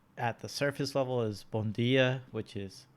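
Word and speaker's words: bom dia: difference is like at the surface level is bon dia which is how they pronounce good morning where brazilian is bungie and first time going here i was corrected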